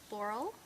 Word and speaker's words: Laurel: My name is Laurel. It rhymes with snorrel.